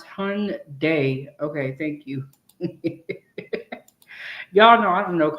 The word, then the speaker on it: Hyundai: Okay, Angela said pronounce hund day.